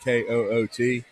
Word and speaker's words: Koht: A dude named Keanu Coot. Just remember that. Keanu Coot. Yeah. KK. It's pronounced. It's KOHT, but it's pronounced like KOOT.